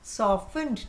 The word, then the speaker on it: softened: Softened. T is silent.